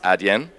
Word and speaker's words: Adyen: to help people understand how to pronounce a DM it's a DM ah now it's closing